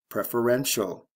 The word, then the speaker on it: preferential: Preference, preferential. Stress shift, first to third syllable, C-E to T-I-A-L.